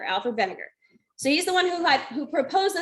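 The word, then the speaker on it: Wegener: german or austrian but that that w is pronounced like a v so that's vinegar alfred vinegar so he's the one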